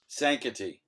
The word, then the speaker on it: Sankaty: This is Sankaty Lighthouse. How do you pronounce it, Doug? Sankaty? Sankaty.